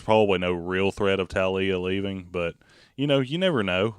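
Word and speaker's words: Taulia: They recruited – is it Talia? Is that how you pronounce his name? Yeah, Talia. They really recruited him, and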